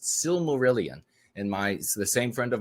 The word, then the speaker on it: Silmarillion: And this book, I believe it's pronounced Silmarillion, and the same friend of mine has got me started on this book now.